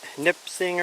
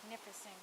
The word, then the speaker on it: Nipissing: And then it connects to that Nipsing or something like that it's called. I'm sure I got that name wrong. Nipissing Trail's that way.